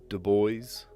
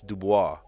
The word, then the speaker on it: Du Bois: Because in French, it's Dubois. But in Americanized English, you'd say Du Bois.